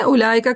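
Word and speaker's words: أولئك: उलाका का वाओ पढ़ा नहीं जाता।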